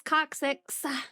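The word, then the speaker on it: coccyx: so I said tailbone wow yeah wow it's coxic wow couldn't spell it but I can say it it's C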